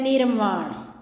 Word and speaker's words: निर्वाण: अगला देखो भाई, एक है निर्वाण। जिस भी शब्द के ऊपर रे लगा होता है वो पहले बोला जाता है। ये क्या है? निर्वाण।